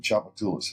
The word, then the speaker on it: Tchoupitoulas: this location Uptown New Orleans on this road chapat tulis has a weird spelling and a funny way to pronounce it but U good location and had